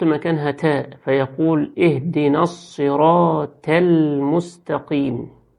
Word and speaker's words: المستقيم: تاء، فيقول اهدنا الصراط المستقيم، الصراط المستقيم، وهي الصراط، الصي مش السي، الصراط المستقيم، يجيب السين صاد المستقيم، ويجيب التاء طاء المستقيم. وفي ناس بتوصل للقاف بتاعة المستقيم وتخليها كيم بالكاف، المستقيم.